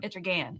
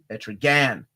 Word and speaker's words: Etrigan: Oh man, Etrigan. It rhymes with man because somebody taught me in the comments. Etrigan.